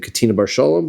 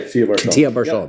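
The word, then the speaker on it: Ketia bar Shalom: Katina Bar Shalom. Did I say his name right? Katina Bar Shalom. Yeah, Katia Bar Shalom, right?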